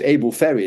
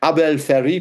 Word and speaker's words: Abel Ferry: And in April of 15, I'm not quite sure how it's pronounced in French, but it's Abel Ferry in English. Abel Ferry, probably, if you want to say it in French.